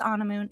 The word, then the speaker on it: Anamoon: I bet y'all were wondering how you pronounce that. It's Anamoon. It sounds like you're on a moon.